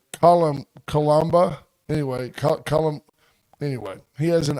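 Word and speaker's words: coloboma: It sounds like Cole Obama, but it's not. It's Columba.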